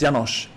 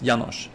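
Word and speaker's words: János: It's Yanosh. The name like it's it's Hungarian and the S is like shh. So, it's Yanosh.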